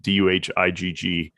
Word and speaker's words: Duhigg: I think that's how you pronounce it. Duhigg.